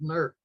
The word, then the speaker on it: Newark: York New York Ohio if you come from Columbus you pronounce that word nerk that's the way Ohio and say Newark who found a curious